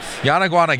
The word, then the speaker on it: Yanaguana: company completely wrana games yanaguana games yeah if you put the words yawn like oh I'm tired and iguana together real fast Yan iguana Yan iguana